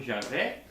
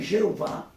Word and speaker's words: Javé: Mas a última palavra aqui, Ângelo, Javé. Javé. Javé, nem Jeová, é o nome, é a pronúncia correta.